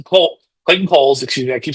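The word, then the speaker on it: Clayton Cowles: Um, and then there was also the matter of our letter Clayton Cow's Cole Clayton Kohl's, excuse me, I keep saying his name wrong.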